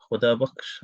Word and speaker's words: Khudabaksh: Muhammad Khudabaksh, I think that's how you pronounce it. Is that right? Yeah, correct. Yeah.